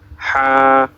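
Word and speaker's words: ح: আমরা গলায় যদি একটা প্রেসার ক্রিয়েট না করি তাহলে কিন্তু আমাদের এই দুইটা হরফের উচ্চারণ শুদ্ধ হবে না।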